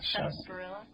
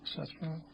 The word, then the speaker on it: sarsaparilla: Sarsaparilla. Sarsaparilla. I say sarsaparilla. She says Sarsaparilla.